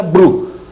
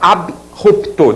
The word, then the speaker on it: abrupto: sem o if então deu margem a pronúncia Bru que tá errada é abrupto derivados também AB ruptela tá